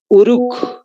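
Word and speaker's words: Uruk: otra de las ciudades uruc tal como se escucha con k de kilo al final uruc otra de las ciudades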